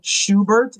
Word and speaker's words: Schubert: Schubert. Am I pronouncing your last name correctly?